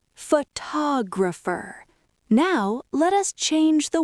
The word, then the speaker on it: photographer: Photographer. This is where the magic happens because the stress moved to the second syllable. That second O suddenly wakes up. It becomes a strong clear vowel.